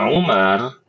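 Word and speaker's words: عمر: Kalau Umar maka dia tulisannya ain. H jangan gini deh. Nyambung semua. Iya. Ain mim ro ini Umar.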